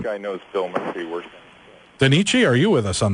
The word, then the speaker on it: Danichi: you can start us off and am I pronouncing that correctly is it denich yes uh denich vampir vamir okay denich why